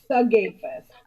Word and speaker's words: Sigafus: completely science silence on that no it's it's suus okay suus got you all right I'm going